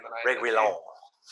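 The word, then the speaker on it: Reguilón: Reguilon. I like that. Go with that. I gotta roll the R.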